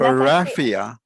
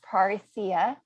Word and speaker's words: parresia: Yes, and Paraphia. It's Paresia, and it is a Greek word found in the book of Acts, and it was used to describe the boldness of the disciples.